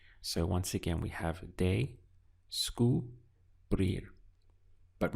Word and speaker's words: descubrir: But my advice is to rehearse this sound day-sku, and then tag on brir. And that will help you to get over the little bit of awkward pronunciation we have here, day-sku, brir.